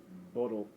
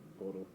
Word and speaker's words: BUIDL: On-chain products like BlackRock's Boodle, if I pronounced that right, I believe it's Boodle.